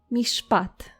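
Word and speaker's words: מִשְׁפָּט: So, how do you say judgment or justice in biblical Hebrew? You say mishpat. Mishpat.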